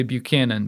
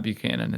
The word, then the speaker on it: Buchan: I want to say Buchanan, but it's not Buchanan. It's Buchan. Buchan.